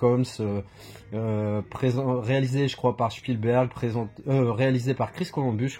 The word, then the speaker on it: Spielberg: plutôt, produit par Spielberg, alors on dit Spielen en allemand, donc, et non Spielen, donc moi je dis Spielberg, voilà, n'en déplaise à certains, mais moi c'est comme ça que je le prononce.